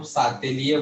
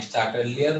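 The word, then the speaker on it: Le Chatelier: ठीक है ना भाई, हिंदी के टेक्स्ट बुक में इसका नाम सातेलिए बोलता है। कैसे तो लिखाता है यार, कौन सा स्पेलिंग ऐसे कुछ लिखते हैं, ली सातेलिए प्रिंसिपल बोलते हैं, बट इंग्लिश में चार्टेलियर बोलते हैं भाई कई लोग।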